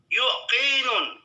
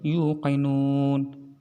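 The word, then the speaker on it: يؤمنون: beriman kepada akhir-akhir tiwul yukinun naya demo ya pemirsa bacanya juga salah itu yukinun bukan yukinun yu'minun ya bacot nusa baca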